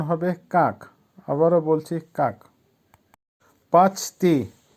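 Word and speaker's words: как: কাক, কাকের অর্থ হবে কিভাবে। উচ্চারণ হবে কাক।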